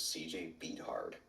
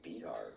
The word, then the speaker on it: Beathard: you look at it, I pronounced his name wrong. I thought his name was CJ Beathard. And actually, a buddy of mine who's in another league, I said, "Who's CJ Beathard?" And he was like, "It's Beathard."